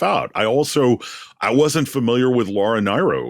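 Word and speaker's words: Laura Nyro: I wasn't familiar with Laura Nero, which I think that's it's pronounced Nero. correctly. Laura Nero. There's been decades of confusion about that.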